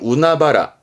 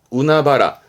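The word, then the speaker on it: 海原: 바다예요 넓고 넓은 바다인데 발음이 좀 특이합니다 이때는 우나바라 우나바라 예 그 넓은 바다를 보면서 우나 아 우나바라 뭐 그렇도 괜찮죠 해녀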